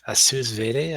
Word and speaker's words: sous vide: the first one is just a sous vide. I don't know how to pronounce Sous it.